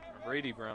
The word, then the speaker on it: Brady: bring up number 16 Bradley Brown Brady Brown I should say it's Brady Brown spelled with an ey a little bit different spelling then and you usually see 3d on the year